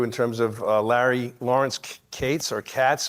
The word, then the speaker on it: Katz: terms of Larry Lawrence Kates or Katz K A TZ but he pronounces it Kates.